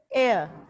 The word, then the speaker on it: heir: First of all will try to pronounce it. First word आपके पास क्या है? This is एयर.